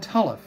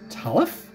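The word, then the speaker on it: Talamh: Fleetwood no it's not the world is called talif Jack talif how do you spell that Fleetwood t-a-l-a-m-h Jack writing that down but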